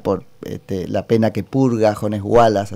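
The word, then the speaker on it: Jones Huala: la pena que purga Jones Wallace, así se pronuncia, allá el embajador de la República Argentina en Chile, que es Rafael Bielsa, tuvo alguna participación.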